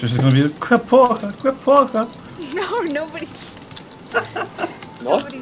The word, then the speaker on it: porra: Que porra, that's why. Porque? Porque, man? I already told you, that's not how you pronounce it. Que porra, okay, fine.